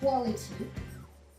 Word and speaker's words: quality: Retenir que le QU en début de mot, d'accord, en début de mot, se prononce quoi? Donc, exemple, quality, d'accord?